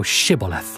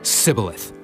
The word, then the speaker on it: Shibboleth: Then said they unto him, Say now Shibboleth. And he said, Sibboleth. For he could not frame to pronounce it right.